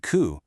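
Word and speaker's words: 九: Because the way you pronounce them, shi and ku, sound exactly like the words for death and suffering.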